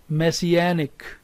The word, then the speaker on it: messianic: here is secondary stress messianic say with me messianic second word is mestiza here is the primary